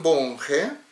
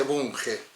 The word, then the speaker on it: Bunge: Según Bunge, bueno, en realidad en Argentina se dice Bunge, sería Bunge, porque es de origen alemán, Bunge. La G pronuncia como si nuestra G, no como una J.